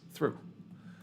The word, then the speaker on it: through: when we look at the word through we pronounce it like this through when we look at